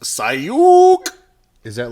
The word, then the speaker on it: Seuk: tonight we're super excited to have special guest sook Kim from tactical airsoft arena and cheez-it Lang says get it right it's pronounced Sai you oh is that like Hadouken I don't know